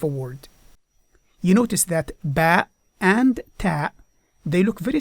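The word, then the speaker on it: ب: The second one is the letter Ba. Ba, and it represents the sound B, as in the English word boy.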